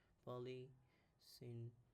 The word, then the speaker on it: polysyndeton: This is like a very key polysyndeton. Did I do anything wrong? Deton. No, that's how you pronounce it.